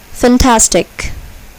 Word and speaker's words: fantastic: Here, the second syllable is accented. Ferocious. Fantastic.